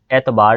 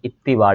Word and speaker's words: इत्तिबार: उसके बाद इत्तिबार लफ्ज़ होता है, एतबार नहीं होता, एतबार नहीं होता, एतबार नहीं होता बल्कि इत्तिबार लफ्ज़ होता है।